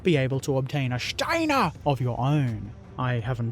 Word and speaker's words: Steiner: You have to say it like that, Steiner!